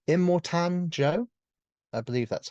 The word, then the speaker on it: Immortan Joe: um immortan I'm gonna get his name wrong immortan Joe I believe that's how you say it um I think that's right let me look up the cast for you yes so it is immortan Joe uh one letter off from Immortal which I